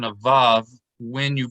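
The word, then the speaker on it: וָו: violin or very so in ancient times they pronounce it like the w like the word with or will for most people listening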